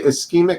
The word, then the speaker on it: ischemic: We say ischemic stroke.